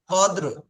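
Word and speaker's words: قدر: দাল র জবর কদর এখানে রটা লাস্টে আমার কথাটা শুনেন রটা শেষে হালকা উচ্চারণ হবে কদর কদর কদর লাইলাতিল কদর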